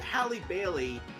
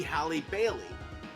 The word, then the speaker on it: Halle Bailey: that you pronounce it let Holly Bailey be Halle Bailey and let her and